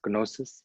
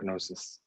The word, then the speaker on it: gnosis: pronounce it exactly um i think it's called g-n-o-s-i-s maybe it's moses gnosis i think is that how it's pronounced gnosis so it has not merged